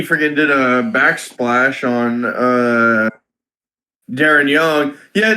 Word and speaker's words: Darren: Torito hit Xavier Woods and freaking Big E freaking did a backsplash on Darren Young. Yeah, the announcer mispronounced Darren Young as Darion.